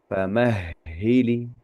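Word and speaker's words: فمهل: Famahili justru huruf H yang diucapkannya famhili. Ahhili seperti itu. Famahhili seperti itu.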